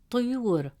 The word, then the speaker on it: طيور: In the word طيور, meaning birds, the letter ya has a damme vowel, which gives it a short oo sound, pronounced as you. Since the long vowel wow comes immediately after you, it stretches the short oo sound into a long oo sound. Instead of pronouncing it as you, the presence of wow makes it you. As a result, the correct pronunciation of the word is طيور, طيور.